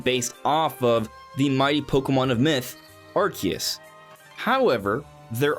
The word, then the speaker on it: Pokémon: But if you're saying Pokemon, that's wrong. It's Pokemon.